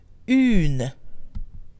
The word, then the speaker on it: une: is followed by a feminine noun, it becomes une. Une. U-N-E. For example, the word woman is feminine in French, so a woman is une femme, with the feminine form of un, which is une.